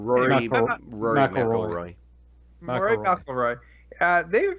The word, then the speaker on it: Rory McIlroy: All right, NBC Sports and Roy McIlroy. Is that how you say his name? Rory McIlroy.